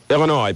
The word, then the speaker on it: Illinois: Illinois, please do not pronounce the S.